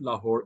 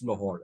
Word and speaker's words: Lahore: Similarly, it's not Lahore, it's Lahore.